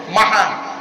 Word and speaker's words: মাহার: অনুরোধ করে বলে যাচ্ছি, এই ভুলগুলো সংশোধন করুন একটু। শব্দটা হলো মাহার।